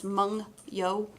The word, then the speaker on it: Mungyo: In case you were wondering how that's pronounced, it's Mungyo. I've heard a lot of very funny pronunciations, but I actually probably will use both because why not?